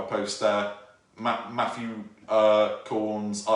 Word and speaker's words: Cornes: then c o r so it's spelt corn s but pronounced corns um so that uh